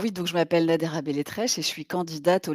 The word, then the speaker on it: Beletreche: Ça se prononce Nadera Belletrèche.